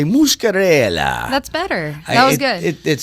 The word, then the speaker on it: Muscarella: But please make welcome to the airwaves, Jenna Muscarella. Did I say it right? Close. You did good. Muscarella. Muscarella. Yes. See, I want to say Muscarella.